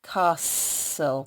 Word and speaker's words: castle: So there is a s, but there's also a little sneaky t that you're not expecting in there because you can't hear it. It's a silent letter. In a castle, can you hear a on the end? In a castle, and then there's another letter that is silent in the word.